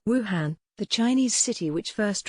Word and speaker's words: Wuhan: the p is silent wuhan the chinese city which first recorded coronavares cases was also commonly mispronounced this year and should be said as wu horn kamala harris who became